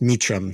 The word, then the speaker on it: Meachum: I apologize that's fine it's pronounced meum so it's like uh meum yeah the the origin